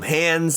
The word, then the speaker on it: Hans: the interview started we because i've always called them hans zimmer and apparently people call them hands and and then so i think that's literally how you say it his hands zimmer so that's that's why we're saying it that way but he said it's